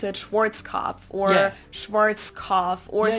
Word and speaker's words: Schwarzkopf: Schwarzkopf.